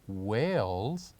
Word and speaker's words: whales: is whales whales so the silent letter of the word whales is letter h letter h and finally